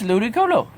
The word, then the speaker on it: Ludicolo: It's Ludicolo. And then we got Seedot, Nuzleaf, and Shiftry. And I have a shiny Shiftry on Pokemon Ultra Moon, which I'm going to trade up, and a shiny Ludicolo.